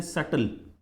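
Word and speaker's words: subtle: मतलब बहुत धीरे धीरे बोलते सटल एय बी भी रहा तो बी साइलेंट है सटल वे बट विथ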